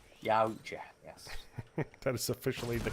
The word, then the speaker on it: Yautja: Well, we found out it's But Yautja. Yautja, yes. That is officially the correct pronunciation.